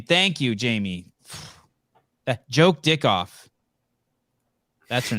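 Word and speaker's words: Jokedikhoff: dick off that's her name thank you Jamie joke dick off that's her name j-o-k-e-d-i-k-h-o-f-f what are you laughing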